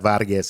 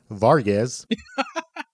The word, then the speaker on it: Vargas: It's not Vargas. It's Vargas.